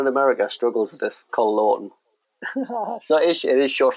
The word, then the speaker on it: Col Lawton: I mean anyone in America struggles with this call laon so is it is short for Colin Colin